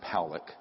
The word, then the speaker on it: Pollock: This man, William Pollock, his name is pronounced Powlick, was a man, very good man, who gave me an interview only to be released posthumously after he died.